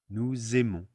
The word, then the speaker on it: nous aimons: Now, there are many different types of liaison in French, but the S is always going to be a Z sound when we make the liaison. Nous aimons.